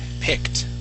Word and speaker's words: picked: up is the word picked okay uh you would actually pronounce the uh this with a d ending saying uh picked um but we want a t ending okay the word would be picked please repeat that big